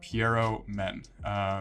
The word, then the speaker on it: Pierrot Men: his name is pronounced Pierrot Men. It's a French name, and I apologize if I'm butchering that, but we're just going to go with it.